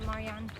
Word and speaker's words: Marjan: That's how our tour guide told Yeah. us to say it, Marjan.